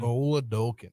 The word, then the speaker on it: Oladokun: Oladokun. Okay. Yeah, you can kind of say it like a really intense Minnesota accent.